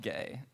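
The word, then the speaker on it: Geay: We have a podcast that's called Gay. It's spelled G-E-A-Y, and the hosts are gay.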